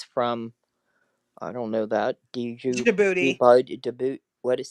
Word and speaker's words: Djibouti: I don't know that djibouti jab. What is say it again? No, it's the D is silent. So it's Djibouti.